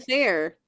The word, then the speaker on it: Faire: So it's it's Facebook/Avalon Faire, and it's spelled FAIRE. Like the fair.